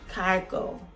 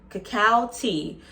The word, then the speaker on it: Kakao T: the cacao tea cow I always want to say cargo but it's pronounced cacao cacao tea uh cacao tea is